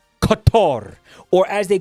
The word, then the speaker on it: Qatar: Uh we're not supposed to pronounce it Qatar anymore. We're supposed to pronounce it cutter. Um for like a cigar cutter.